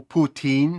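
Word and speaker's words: poutine: Зверніть увагу на вимову путін. Ніякі інші вимоги тут, які вас би напрошувалися зараз, тут вони не підходять.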